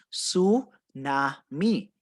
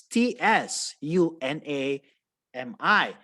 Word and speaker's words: tsunami: disaster is called a su na mi it is spelled as t s u n a m i but you read that as a silent letter t so you just say it's a tsunami now a tsunami is